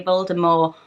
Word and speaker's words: Voldemort: added the tea but the original audiobooks is to have the silent T so yes I've been swelling up on that you Voldemort or Rivaldo Morgul lot